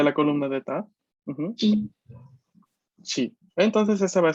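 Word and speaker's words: ち: de la sílaba ta. De la columna de ta. Ujú. Chi.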